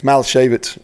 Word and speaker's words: Malashavitz: Next time I talk about him, it's Malashavitz is how you say it, but I'll get better with that.